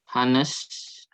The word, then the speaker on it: honest: Hanya nggak dibaca ya. Silent H.